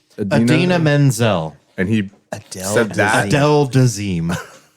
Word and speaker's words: Idina Menzel: Adele desim oh yeah so wickedly talented that's Idina Menzel but that's when when John Travolta tried to